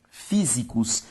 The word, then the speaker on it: físicos: Físicos também tem como sílaba tônica a antepenúltima, logo uma palavra proparoxítona.